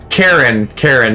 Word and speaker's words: Karen: Karen, not Aaron. There's a guy named Karen. But, you know, it's fucking spelled like Karen.